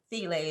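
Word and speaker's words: filé: And filet is spelled File.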